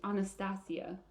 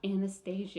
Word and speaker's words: Anastasia: first met anastasia or the correct verbiage anastasia oh i like that better it is that's how it's actually pronounced anastasia that is so pretty not anastasia yeah but yeah no